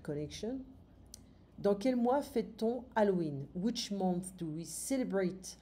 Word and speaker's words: Halloween: Quel fruit est typique pour Halloween? We don't pronounce the H in French.